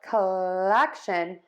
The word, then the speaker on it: collection: So for kəઃlɛkʃən, touch those teeth for that L.